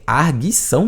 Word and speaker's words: arguição: Esse termo aqui não existe mais, inclusive a pronúncia é arguição mesmo, viu?